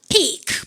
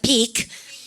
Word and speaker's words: peek: takes a peek. 발음 갖답시야. 훔쳐볼 때 발음 갖답시야. takes a peek. 여러분들 그거 모음이 두 개 겹치자. 발음 길게 피크입니까? 피크 그죠?